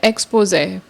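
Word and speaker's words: exposé: Next word है एक्सपोजे। ये जो लेटर है ये ई नहीं है, ये फ्रेंच लेटर है, इसको ए प्रोनाउंस करते हैं।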